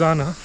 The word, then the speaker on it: Jana: in a place called anna which no locals pronounces zana apparently plenty of sunlight today very less clouds